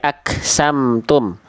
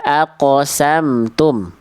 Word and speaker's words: aqsamtum: Qof itu dipantulkan Bunda. Aqsamtum. Ah, tadi Bunda baca jadi kaf aksamtum ya.